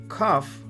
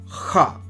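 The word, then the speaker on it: כ: Also, if you look at Kaf, Kaf can be pronounced as Ka or Kha.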